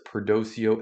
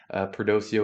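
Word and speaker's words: Perdoceo: looking at is uh prdo which is perdocio education group I believe that's how it's pronounced perdosio it is kind of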